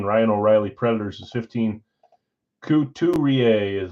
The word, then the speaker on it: Couturier: Couturier is how you say it.